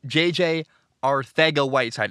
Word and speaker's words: Arcega-Whiteside: I'm told there's a TH sound. I do it the best I can. Anyway, in the second round of the draft in 2019, Philly took J.J. Arcega-Whiteside instead of DK Metcalf.